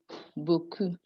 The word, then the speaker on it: beaucoup: The EAU being pronounced as O. That's why we say O, the lo, beaucoup.